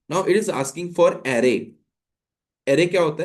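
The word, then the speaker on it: array: हैं उसको बोलते हैं एरे. ठीक है. एरे इज the right pronunciation. लोग अरे भी बोल देते हैं, ठीक है, लेकिन अरे नहीं बोलना है, एरे बोलना है.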